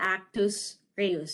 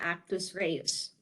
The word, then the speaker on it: actus reus: The principal in the first degree is the individual who performs the actual criminal act, or the actus reus. So it's spelled A-C-T-U-S, first word.